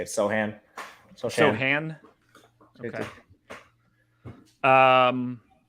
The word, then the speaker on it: Sochan: all right i'm gonna whiff on the correct pronunciation here um sochan from baylor yes yeah that's how you say it sohan so show hand okay um i'm fascinated by